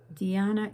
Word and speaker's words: dhyana: Dhyana is the same as Zen or Chan, all meaning meditation.